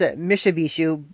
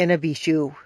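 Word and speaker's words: Mishipeshu: one is in a B shoe some people pronounce a Misha be shoe but it's it's actually closer to in a be shoe so and that is the great underwater panther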